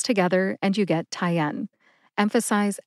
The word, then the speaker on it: Tyenne: tyen has two syllables Tai like a neck tie and N like the letter N put both syllables together and you get tyen emphasize n see if